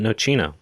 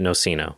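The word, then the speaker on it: nocino: they do call it nochino look at that good job americans wait that was an italian website oh wow no it is americans pronounce it noceno but it should be nochino goddamn americans i'm gonna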